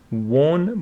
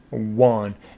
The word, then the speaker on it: won: Some students pronounce it won, but it is won. If we take a look at Longman and go for win, and here he says he won.